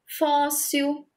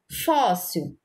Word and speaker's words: fóssil: Fóssil, fó, porque recebeu o acento agudo. Se nós tirarmos aqui o acento agudo, vai ficar fô. Aí a gente vai pronunciar fô, fóssil. Tá errado, é fóssil, ok?